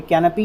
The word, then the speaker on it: canopy: देखिए, तो दूसरी आज की जो हमारी फैमिली है वो है कैनपी, यानी कि दूसरा हमारा जो आज का मीनिंग है वो है कैनपी।